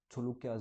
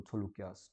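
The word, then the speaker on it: Chaulukyas: तो these are not actually चालुक्यास, इनकी spelling थोड़ी सी अलग होती है, देवर नोन एज CHAUHLKYAS, छुलुक्यास बोलते हैं इनको, छुलुक्यास, ठीक है।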